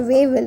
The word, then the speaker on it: Wavell: While the blaze of violence had arisen in the country, Viceroy Wavell is better pronunciation, Viceroy Wavell established the interim government.